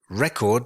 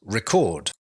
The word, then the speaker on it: record: is a noun actually the stress here the pronunciation changes slightly if we use it as a verb record becomes record and if you record